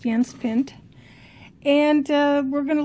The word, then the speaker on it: Jens Pind: yans pin it's spelled Jens pend but it's pronounced yans pin and uh we're going to learn how to